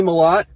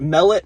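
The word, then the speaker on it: Mellott: these simple easy names we got Tommy a lot no emphasis on anything not Mallet not mullet just like the baseball player Mel Ott what baseball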